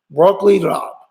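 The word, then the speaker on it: broccoli rabe: e Rob nobody knows really know how to pronounce it broccoli raab that is it and it tasted I tried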